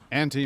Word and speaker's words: aunt: We sing ant here, too. Unless you've got a posh accent here. Yeah, it's it's one of the things like my brother, my older brother Nick, will actually give me if he hears me say aunt.